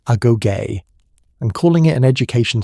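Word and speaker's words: agoge: The Spartans called their education system the aogue, pronounced a goay.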